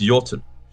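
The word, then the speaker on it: jötunn: I get um so I give is this yotun uh as it's pronounced of the C so this C giant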